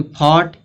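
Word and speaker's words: fought: फिर जैसे यहां यहां पे दिया है कि फोर्ट लास्ट में जी एच टी आ रहा है। देखो जी एच टी लास्ट में आ रहा है तो जी एच क्या होगा? साइलेंट होगा।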